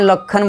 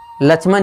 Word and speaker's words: लक्ष्मण: इसका सदुपयोग कीजिए लक्ष्मण हम लोग बांग्ला में लखन बोलते हैं कोई लक्ष्मण है लेकिन उच्चारण सही से कीजिएगा लक्ष्मण ही बोलिएगा या तो